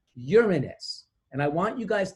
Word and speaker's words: Uranus: say the word because they say it like Uranus which is an accepted pronunciation but that is not Latin you would never hear anybody speaking Latin and talking about the seventh planet being Uranus they would say Uranus and I want you